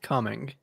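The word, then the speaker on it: Cumming: also have a city called cuming and it's pronounced cuming yeah there you go yeah well and I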